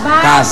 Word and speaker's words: KAZ: Bacanya apa? Kas ya. Iya, kas.